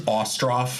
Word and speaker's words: Ostroff: so but it is osto I have to say it better it's not ough yeah it's uh Russian not Irish got it okay well